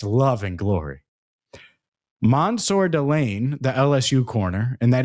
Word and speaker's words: Mansour Delane: Mansour Delane, the LSU corner, and that is how you say it, Mansour Delane, visited this week in Sonny Styles.